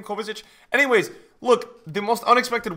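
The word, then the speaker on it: Kovačić: I think it's Kovacic, that's how you pronounce his name, Kovacic.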